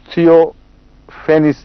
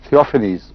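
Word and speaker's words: Theophanes: سب سے پہلے حضرت اقدس محمد رسول اللہ پر ایپیلیپسی کا الزام لگانے والا شخص ایک بیزنٹائن ہسٹورین تھیوفینس تھا. تھیوفینیز اس کا تلفظ ہوگا.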